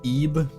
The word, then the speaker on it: Ib: M this pasta IB is pronounced E. I see how it is. Why didn't they spell it like E then?